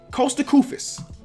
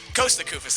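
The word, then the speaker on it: Kosta Koufos: Costa Kufis.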